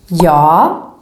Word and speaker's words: ja: But then in words, it sounds more like a Y sound. For example, a little bit like the English word yes, Y. Like in this word, ja, yes, and jordgubbe, strawberry.